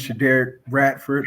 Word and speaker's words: Shaderrick Bradford: ahead and introduce yourself actually my name is Shader Ratford Shader I've been saying it wrong in my